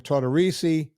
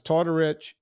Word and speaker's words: Tortorici: pronounces our name Tortorici with an E at the end, and then the other half is Tortorich, same family.